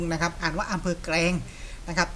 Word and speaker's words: แกลง: แกรง จังหวัด ระยอง นะ ครับ อ่าน ว่า อำเภอ แกรง นะ ครับ ไม่ ใช่ อำเภอ แกรง นะ ครับ อ่าน ว่า อำเภอ แกรง นะ ครับ ที่ จังหวัด ระยอง นะ ครับ ถ้า